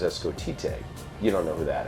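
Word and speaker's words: Escotete: I took my name Scott, and I broke it up phonetically, so S-C-O-T-T. Okay. I came up with this name Escotite. So E-S-C-O-T-E-T-E with a little accent on the end.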